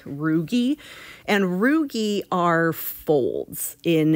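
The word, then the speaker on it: rugae: tissue component called roogie the a is silent roogy and roogy are folds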